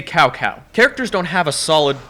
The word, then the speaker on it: Cao Cao: Lubu sounds like a nasally dad trying too hard to sound cool, and they don't pronounce Cao Cao's name correctly. Say Cao Cao.